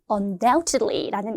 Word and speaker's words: undoubtedly: undoubtedly라는 이 부사부터 이제 시작하는데요. B는 여러분 silence, 묵음입니다.